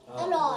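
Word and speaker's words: อร่อย: Aroy.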